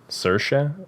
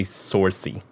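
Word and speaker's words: Saoirse: say her first name Sasha sersha because I always say sourcey yeah that's what I did until I learned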